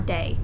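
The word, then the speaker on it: Dae: and night cycle so you have day but it's spelled D AE and then Slumber but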